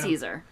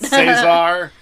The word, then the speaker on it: Cesare: How do they pronounce it in the audiobook? Yeah. Caesar. Okay. Here's the thing. He has a YouTube channel. And he says his own name. Okay, then I'm going to trust that. Cesar.